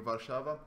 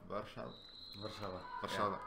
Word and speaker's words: Warszawa: We're seeing the Warsaw Warrior bench finally cheering their team on, screaming Warszawa. Warszawa.